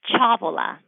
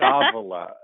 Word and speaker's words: Ciavola: I don't want to get your last name wrong. How do you say it? It's Ciavola. It's one of those good Italian names. That's not at all how I would have said it. Ciavola.